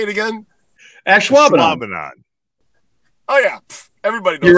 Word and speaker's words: Ashwaubenon: Ashwaubenon.